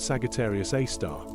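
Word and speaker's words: Sagittarius A*: It is named Sagittarius A asterisk, pronounced Sagittarius A star, and is located about 26,000 light-years from Earth in the direction of the Sagittarius constellation.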